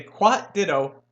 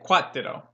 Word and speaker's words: cuatro: four in Spanish you don't try to smuggle the art don't say what what what to the role you know you're trying to smuggle that are sound from English into the Spanish town no just say quat ditto okay beating a dead